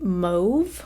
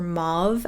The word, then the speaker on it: mauve: it's very cool toned it's not quite mauve or mauve As Americans say it's almost like a